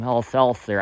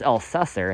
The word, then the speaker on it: Elsesser: I don't know why people call him Elselser. I think it's Elsesser. That's how it's spelled. I don't see how it would be Elselser.